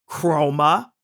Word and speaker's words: Chroma: They're both pronounced Chroma, but one with a K, one with a C.